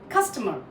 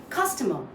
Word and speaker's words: customer: are saying customer sometimes we we stress on the mer that's not correct the correct here is you stress on the first part C customer okay so if somebody